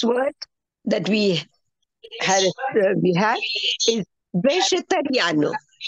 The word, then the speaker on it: vegetariano: Please see the spelling, pronunciation of this. Vegetariano. It is not vegetariano. Okay? When you say words in Portuguese, the R is a very important part of the language. R. Okay? Vegetariano. Not in English, we say vegetarian.